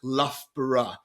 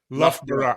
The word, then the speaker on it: Loughborough: It's actually pronounced Loughborough. Loughborough. I knew I said it wrong. We often, when we would talk to each other, we'd just do L-U-F-B-R-A, Loughborough. But that's crazy that's how it's spelt, but that's how it's pronounced.